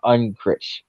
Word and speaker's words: Unkrich: Stanton recorded all of Crush's dialogue while laying on a couch in the office of his co-director Lee Unkrich.